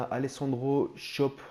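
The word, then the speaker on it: Alessandro Schöpf: une carrière avec schalke 04 ensuite on à alessandro shop je passe ça se prononce comme ça 77 général 22 ans voilà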